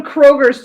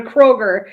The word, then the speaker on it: Kroger: You don't go to Kroger's to get groceries. You go to Kroger. His name is actually pronounced Willem Dafoe.